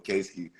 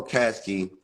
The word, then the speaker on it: Caskey: and follow case Caskey I I almost call him Casey I I asked him how to say his name correctly because the Pittsburgh gave